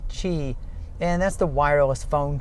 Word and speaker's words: Qi: familiar with Qi charging its Qi pronounced Qi and that's the wireless